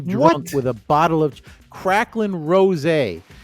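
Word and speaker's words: Cracklin': didn't reach number one so they're saying krain Ros it's actually kracklin Ros you know that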